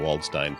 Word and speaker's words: Waldstein: It's Waldstein, not.